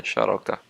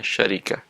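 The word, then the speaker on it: شركة: Arafah berarti bacanya syarakah, dan namirah berarti bacanya syarikah, dan hikmah berarti cara bacanya syirkah. Berarti tiga ucapan ini boleh dan benar dalam bahasa Arab: syarakah, syarikah, syirkah, ya.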